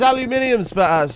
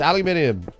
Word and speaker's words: aluminium: How is aluminium pronounced? It's aluminium.